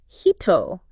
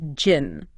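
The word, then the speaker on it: 人: okay now that kanji can be read as hito in its native Japanese pronunciation but it can also have a Chinese derived reading which is pronounced Jin okay and so in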